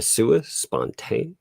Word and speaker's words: sua sponte: Federal Rule 11 expressly requires a show cause order and does not permit a sua sponte. Am I pronouncing that right? Yep, you are.